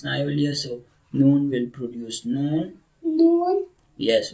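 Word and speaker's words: نون: So noon, after that, the makhraj of the pronunciation of noon, this is noon. Noon. Noon. Noon. Tongue tip touches gum line.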